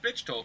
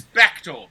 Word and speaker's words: Bechtold: It's not pronounced Bitchtold, like the guy who called my house the other day wanted to pronounce it. It's Bechtold, like Beck told you a story.